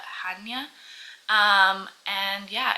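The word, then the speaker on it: Chania: on an island called well it's spelled like CH but I think you actually call it Hana um and yeah it's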